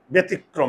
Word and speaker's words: ব্যতিক্রম: দেখো তো, ব্যতিক্রম, ব্যতিক্রম, মুখের চোয়াল না খুললে একার।